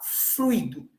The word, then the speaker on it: fluido: dificuldade sobre isso né algumas pronunciam com acentuação sobre a vogal o fluido outros faz situação sobre o influído agora o correto gente é a pronúncia como ditongo de frango é a junção das duas vogais de aí nós temos